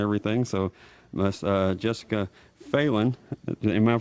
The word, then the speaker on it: Phelan: name was Brad and it's spelled the same way but he pronounces his feline oh see there's all